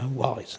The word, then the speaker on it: Wally: And I mispronounced Fred Wally's name, and I like to think that I sort of envision it. She sort of metaphorically wrapped her lorgnette on my fingers and said, "It's Wally, Mr.